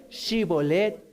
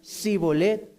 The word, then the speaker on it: Shibolet: Entonces le decían, ahora pues di Shibolet. Y él decía Sibolet, porque no podía pronunciarlo correctamente.